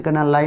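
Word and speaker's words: colonel: Means आपको इसको याद कैसे करना, लाई मतलब झूठ, यू मतलब तुम, टीनेंट मतलब किराएदार। किराएदार तुम झूठ बोल रहे हो, लाई यू टीनेंट। अगली स्पेलिंग आती है आपकी कोलोनल, जिसे आप कर्नल कहते हैं, बार बार पूछी जाती है।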